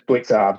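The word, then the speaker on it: Blicavs: It's spelled Blickers, but it's Blitzarves, I think, is the way you say it.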